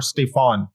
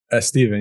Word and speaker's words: Stephen: By the way, is your correct pronunciation Stephen or Stefan? Steven, yeah, thanks for asking.